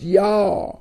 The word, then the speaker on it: Yah: at uh 49 other places it it is pronounced yah and uh and then uh his uh function